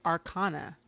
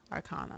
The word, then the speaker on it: Arcana: And so it's Arcanum, and the plural of that is Arcana, but that's a sound. Ah. Arcana.